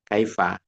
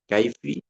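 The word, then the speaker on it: كيف: Kaif kaifa tidak dibaca kasrah liqil kasrah ba'dal ya. Ya. Karena kalau kasrah sudah ya itu ee itu berat ya dalam lisan atau dalam lidah Arab itu berat. Aini aini kaifi orang Arab lebih ringan baca fathah kaifa ayuna fah mukhtasar bilf amina.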